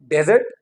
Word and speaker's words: desert: नाउ the pronunciation of this word is डिजर्ट, that was desert, now this is dessert, dessert, dessert, now you